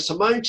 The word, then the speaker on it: Simone: And Simone's just going to sit there and listen and smile and you'd say, oh, did I do all of that?